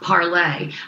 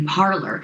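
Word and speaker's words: Parler: the way she told me that it's actually pronounced parlay but hey for all americans it is going to be parlor so they are doing really really well they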